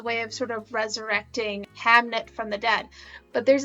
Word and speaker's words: Hamnet: death of their son hamnet but there's a scene it's actually really sad victoria did pronounce that correctly hamlet is a play that shakespeare wrote but he did also